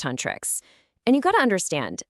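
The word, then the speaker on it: Huntrix: So, our heroes are the girl group Huntrics, pronounced Huntress.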